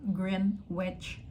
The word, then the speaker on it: Greenwich: Jadi tulisannya tuh Greenwich, tapi gue baru tahu ternyata cara bacanya University of Greenwich.